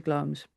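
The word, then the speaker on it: Glamis: I think we're going to go to Glums because because dang.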